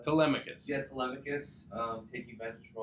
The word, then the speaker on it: Telemachus: Telemachus.